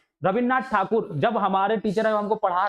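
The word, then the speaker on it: ঠাকুর: नाम सुना होगा रविन्द्रनाथ टैगोर का नाम सुना होगा, वो टैगोर नहीं थे वास्तव वो ठाकुर थे, अंग्रेज उनको टैगोर टैगोर टैगोर टैगोर कह के उनको टैगोर बना दिया, और आज हम लोग टैगोर भी लिखते हैं।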